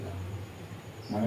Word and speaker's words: gnome: এই জিটা উচ্চারণ কিন্তু আমরা করছি না। মানে ন্যাস মানে কি?